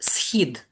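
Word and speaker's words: Схід: know that most Americans have a problem with the pronunciation of our word, very short one, monosyllabic. Schid. Schid. Shid.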